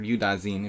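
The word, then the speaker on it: Yudasin: is for black here you Dawson used to kill people with this with wait you Dawson against like or you die zine if we want to pronounce it correctly Leonid used to like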